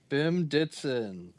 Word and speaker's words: Bim Ditson: Is that how you pronounce it? Yeah, Bim Ditson.